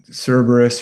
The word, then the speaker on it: Cerberus: And is that is it Cerberus, the three-headed dog? Am I saying it That's right. Cerberus or Kerberos as the the Romans would pronounce it with a hard C, but we usually say Cerberus or Kerberos.